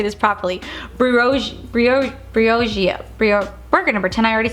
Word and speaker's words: Briogeo: Oh my god, I always say this name wrong. Berigio.